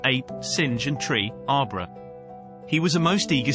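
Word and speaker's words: arbre: in the same way he was taught to pronounce ape sing and tree arbra he was a most eager student and in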